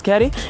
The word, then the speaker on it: CAD: Your boy CAD, where I pronounce Caddy, is out of here.